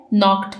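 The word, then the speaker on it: knocked: कि दरवाजा किसने खटखटाया इसमें के साइलेंट है नॉक्ड में इसको हम के से स्टार्ट नहीं करते बल्कि इसको हम एन से प्रोनाउंस करना स्टार्ट करते हैं नॉक यासिर रैप द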